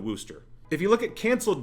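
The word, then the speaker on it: Worcester: in in w w Worchester Wooster I'm sure that's pronounced woster somebody's going to call me out on that we're going to go with woster if you look at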